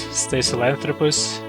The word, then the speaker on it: Stasalanthropus: I believe it's supposed to pronounce Stasalanthropus, but you don't have to struggle with it.